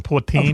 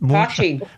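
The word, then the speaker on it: poitín: Is that how you pronounce the moonshine of Ireland? Poutine. Have you ever heard of that? Either of you two. Okay. What do you call moonshine in Ireland? There's a moonshine. Poaching. That's it. Okay. Poaching. Yeah. Okay. Yeah, Yes. jeez. I just wasn't pronouncing it right.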